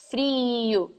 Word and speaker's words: frio: So in fact, when we are pronouncing the word frio in Minas, it's kind of closer to the long E in English. It's a double I, frio.